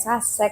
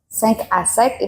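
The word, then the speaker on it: Cinq à Sec: Jadi memang banyak sekali yang pelafalannya macam-macam, ada yang Sasek, 5 Asek seperti itu. Sebenarnya kalau dilihat kan dari logonya ada angka 5. Nah, dalam bahasa Prancis angka 5 adalah Sek Asek, itu dari bahasa Prancis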